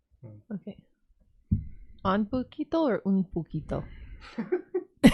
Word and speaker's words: Puketo: On Puketo or un Puketo? For those playing the home game, it's spelled P-U-Keto. Okay, there's a couple of ways of spelling keto. Could you? Puketo to keto. P-U-Keto the diet.